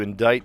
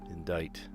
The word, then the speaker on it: indict: To indict someone with something. Indict. That's a weird pronunciation. Indict.